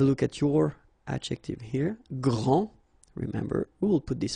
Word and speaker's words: grand: here for the masculine, grand, so you don't pronounce the final D, will be exactly the same as the plural form for the masculine, grand. You don't pronounce the final D, you don't the D here, and you don't pronounce the final S.